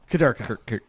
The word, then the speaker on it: Kudurka: It's said how it's spelled. Wait, hold on. Smith. Wait, how's it? Kudurka.